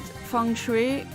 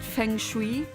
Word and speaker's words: feng shui: I said feng shui wrong for the longest time ever. I always said feng shui, until someone corrected me and I looked it up, and yeah, that is the correct pronunciation.